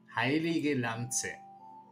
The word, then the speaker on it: Heilige Lanze: And of course, if you get a weapon that heals you, like the famous Heilige Lanze, yeah, that's how you pronounce it in German, Heilige Lanze, which is actually pretty, let's say, I don't know how to put it.